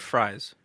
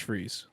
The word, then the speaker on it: Freeze: victor what freeze freeze oh okay i heard fries maybe that was a glitch is that not is that not it's fries it's pronounced freeze oh is a character like come on no